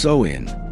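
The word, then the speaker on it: Samhain: Formerly known as the ancient Celtic festival of Sawin, pronounced so in.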